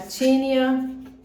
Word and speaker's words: Tinne: pronúncia vamos lá é escreve Tine o som é de ter tá então tia é a tinya role tinea holy tá